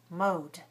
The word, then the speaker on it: mowed: is the same now if we have a word like mo what is the last sound oh vowel oh all vowels are voiced so mo plus ed we get mo mode mode i mowed the lawn